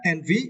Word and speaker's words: envy: And for the next word, the word envy, it is now, right? And you can see the phonics. Envy, you need to stress the first syllable, N.